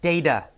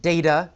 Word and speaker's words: data: In the first paragraph we have the word data. Some people pronounce it data, some people say data. Either is correct.